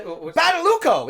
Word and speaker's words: Badalucco: How the hell do you pronounce this guy's name? Who is the guy? Badalucco.